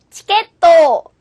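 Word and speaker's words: チケット: チケット。チケット。 자, T로 발음하기보다는 치로 발음하는 것이 조금 더 예쁘게 들립니다.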